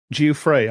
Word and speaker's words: Giuffre: The whole context of what they're like talking about here is in response to Virginia, what is it, Virginia Giuffre, I believe it's pronounced. Yes, Giuffre.